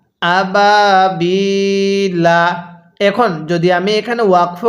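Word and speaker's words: أبابيل: দেখতেছেন তারা বলবেন হ্যাঁ যদি আমরা এখন এখানে ওয়াকফ করি তাহলে লামের উপর এই জবরকে বাদ দিয়ে দিতে হবে তাহলে লামের উপর কি দিব সাকিন দিব কিভাবে পড়বো আবাবিল এখানে কিন্তু তিন আলিফ টান দিতে হবে একটি নিয়ম স্মরণ রাখবেন ওয়াও আলিফ ইয়া কি বললাম ওয়াও আলিফ ইয়া এর পরে যদি ওয়াকফ করা হয় তাহলে সেখানে তিন আলিফ টানতে হয় যেমন এখানে ইয়া এর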